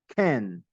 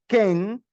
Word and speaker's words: can: Can. No es Ken, como en español seco, but can. Un poquito de inglés, un poquito gringo.